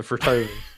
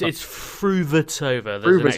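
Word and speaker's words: Fruhvirtová: The new Williams sisters, perhaps, the Frutovas, don't quite roll off. It's Fruvertova. There's an extra syllable in the middle there.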